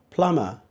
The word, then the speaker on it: plumber: not nervous then we have PLU MB er Plummer people get to see plumb bar there's no